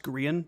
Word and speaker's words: Grian: even Gran isn't wetting himself and that it's pronounced green Gan but whatever guy is built also um how